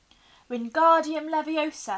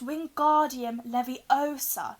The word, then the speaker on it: Wingardium Leviosa: having much more luck Wingardium Leviosa he shouted waving his long arms like a windmill you're saying it wrong Harry heard Hermione snap its Wingardium Leviosa make the GAR nice and long you do it then